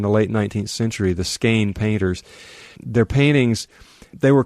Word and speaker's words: Skagen: It looks like Skagen, but it's pronounced Skane, and it's this really wild and fantastic place where two seas meet.